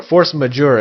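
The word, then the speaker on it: force majeure: force which means or force major if you're if you're pronouncing it more englishy uh superior force in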